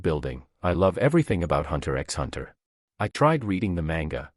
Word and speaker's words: Hunter x Hunter: it being too long the x in hunter x hunter is silent the next anime i